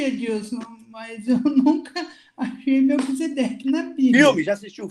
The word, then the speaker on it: Melquisedeque: Mas como é que pronuncia É, certinho? É Melkzer? Como é que é o é Melquisedeque, meu nome. Melquisedeque.